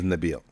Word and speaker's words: Nabil: about that about so realistically my name is Nabil Nabil right pronounced that way uh when I started fighting